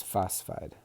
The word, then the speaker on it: phosphide: think it would be, but it's phosphide. I guess one way to think about it is the anion generally only has 2 consonants, or I'm sorry, 2 syllables, I guess is the word. 2 syllables, sorry.